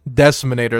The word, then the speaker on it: Deciminator: And now up next, we do have the Decimator, or Deciminator? Deciminator, that's how you pronounce it.